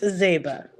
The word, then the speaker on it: Zeiba: have what's your name is it Zeba is that am I pronouncing that correctly it's Zeba zba we have zba here